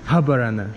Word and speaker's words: Habarana: How do you say Habarana? Habarana. Habarana.